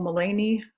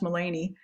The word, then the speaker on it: Melanie: by my ancestors uh in english i'm called mullany which is half my father's name delaney and my mother's name melinda and they haft it up and and spelled it like melanie but it's pronounced mullany and uh i am